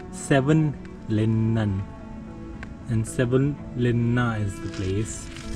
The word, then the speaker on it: Savonlinna: And I think I said the name wrong. It's Savonlinna, and Savonlinna is the place.